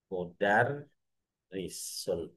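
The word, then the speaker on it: مدرّس: Kalau di atas rnya ini ada tasdid seperti ini, kemungkinan ini dibacanya bukan kemungkinan hampir pasti dibacanya tadi modar. Mudar risun. Mudarisun atau mudaris.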